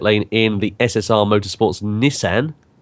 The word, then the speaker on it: Nissan: in the SSR Motorsports Nissan or Nissan as it's correctly pronounced apparently tww Greco in the